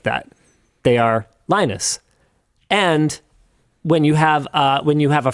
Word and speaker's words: Linus: called me Linus because in French, that is how those letters in that order are pronounced.